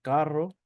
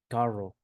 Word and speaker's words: carro: The double R is always pronounced as as the R in car. So, we have here here carro. That is pronounced carro.